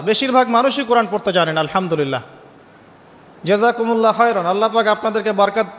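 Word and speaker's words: الحمد لله: আলহামদুলিল্লাহ। এই হা এর মাখরাজ কোথায়? হা এর মাখরাজ কোথায় বলেন একজন? কণ্ঠনালীর মাঝখান থেকে।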